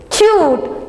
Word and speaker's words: cute: C cute cute cute last e silent and you have to say this previous Vel as a u it's a cute this